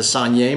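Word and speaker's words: saignée: it's made in what is known as the sanier method not to be confused with Sanjay Gupta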